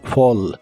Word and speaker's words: fall: presente de inglés es Fall la a de esta palabra se pronuncia como o y la doble l se pronuncia como una l normal De hecho no es